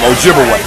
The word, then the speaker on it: Ojibwe: twice and of course they corrupted the pronunciation of those Ojibwe people to Chippewa absolutely so Chippewa and Ojibwe that's the same people wise the European Corruption of their real name Ojibwe okay so they begin